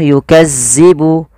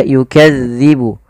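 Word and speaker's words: يُكَذِّبُ: Dzal ini tidak boleh dibaca atau tidak boleh diganti dengan huruf zai. Contoh yukazzibu. Yukazzibu tidak. Tapi dia yukadzibu yukadzibu yukadzibu bihal mujrimun.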